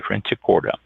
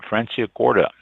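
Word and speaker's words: Franciacorta: c i a c o r t a franic corta uh prco gets all the buzz but look for the sparkling wine from Fran Corda it's a northern Italian region of that name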